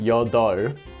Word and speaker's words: 여덟: This one's got a bunch of letters in it. Although the pronunciation of this is just 여덟, 아홉.